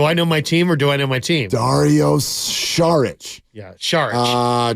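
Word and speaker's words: Šarić: know my team Dario shich yeah shich it's not pronounced sarich by the way um Mark it's Char Char Char yes I'm the one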